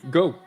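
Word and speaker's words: Geaux: But they pronounce it the same way. Go.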